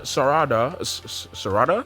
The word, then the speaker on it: Sarada: Sarada Sarata, that's how you say it.